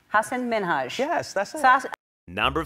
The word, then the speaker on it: Hasan Minhaj: Hasan Minhaj. Hasan Minhaj.